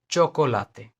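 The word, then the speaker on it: chocolate: जब भी सी एच दोनों साथ में आएंगे तो इसका प्रोनाउंसिएशन च होगा, च, इंग्लिश हिंदी वाला च, ओके, च साउंड, लाइक चोकोलाते, चोकोलाते, चोकोलाते।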